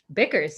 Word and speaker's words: Bickers: today is the one and only kiara bikers bickers yeah is it bickers yeah i don't know i never pronounced people's last names she'll probably check it's